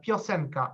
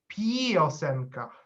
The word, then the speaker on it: piosenka: uh it is so we can compare the first word uh piocenca a song uh is pronounced uh exactly that and not piosenka so there is not